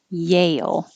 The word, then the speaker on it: Yale: backyard is muddy yale this is kind of strange because when you say yay you're you're starting with your tongue in the y position and when you say the vowel a your tongue goes up higher so yeah i'm starting high yay yay and then you slide down for an l yale and then smooth it together yale yale and be careful if